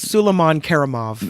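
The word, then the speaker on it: Suleiman Kerimov: It's Suleiman Karimov.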